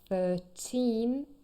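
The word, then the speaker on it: thirteen: bit difficult so remember 13 here the stress is also on the second syllable not the first but 30.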